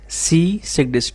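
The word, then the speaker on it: Tshisekedi: उनके प्रेसिडेंट है फेलिक्स सी सस T silent होगा विक्ट्री इन द दिसंबर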